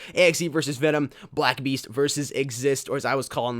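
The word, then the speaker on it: XYST: Axe versus Venom, Blackbeast versus Exist, or as I was calling them, Zeiss. It is it is spelled Zeiss XY ST for the best of I can, but but it is pronounced exist.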